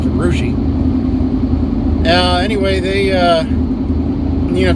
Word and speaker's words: Russia: in urushi ohio and it's spelled just like russia but pronounced arushi uh anyway they uh